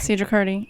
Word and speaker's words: Sedra Kurdi: Make sure you follow our special guest, Sedra Kurdi. He said it At right. Sedra Kurdi.